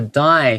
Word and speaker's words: dye: 这个 dye 虽然说是死吗？声音一样，声音一样。 It sounds the same.